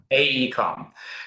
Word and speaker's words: AECOM: AECOM? AECOM, yeah. AECOM.